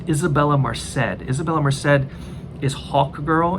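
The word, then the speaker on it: Isabela Merced: I think her name is pronounced Isabella Merced.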